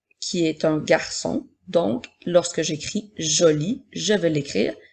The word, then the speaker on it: jolie: est une lettre muette nous n'allons pas dire joli e mais bien joli comme dans la phrase